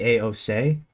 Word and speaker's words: AOC: Also, the C isn't pronounced C. It's it's pronounced like say. It It I It would be a O say.